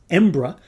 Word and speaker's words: Embra: And in case you're curious, the name of the bottling Embra is derived from a way the locals often pronounce the name of their city.